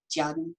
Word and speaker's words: Tjaden: Even though I can mostly speak German, I have never been able to pronounce the T and the J at the same time. That's one of those things you have to learn when you're little. It's basically like Jaden, but native German speakers